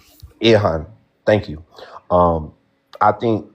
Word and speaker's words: Ilhan: what sparked this ultimately was what's uh Ian Ian Omar is that how you pronounce it I hope I'm pronouncing Ian Omar Ilhan Ihan thank you.